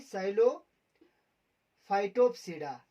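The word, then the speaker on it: Psilophytopsida: हम नहीं पढ़ते हैं, इसी तरह पी को साइलेंस रखते हैं। इससे आगे भी इसके जितने भी वर्ड्स है उसमें हम पी को साइलेंट रखेंगे। तो इसमें जो पहला है साइलोफाइटोप्सिडा, PSILO, साइलोफाइटोप्सिडा।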